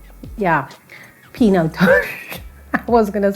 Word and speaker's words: Pinotage: certainly proud of but can you say it properly pinatage all i used now guys it's p no taj like yeah pinotage i was going to